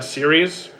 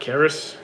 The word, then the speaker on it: Sirius: My name is pronounced Sirius. Not Karis.